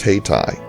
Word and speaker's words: Hayti: We're now in the city of Hayti, and yes, after exhaustive research on the pronunciation of this city, it is pronounced Hayti.